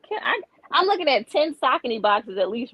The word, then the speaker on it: Saucony: So but I tell people y'all say Saucony, ain't nothing wrong with it. But I say Saucony because that's actually how you pronounce it.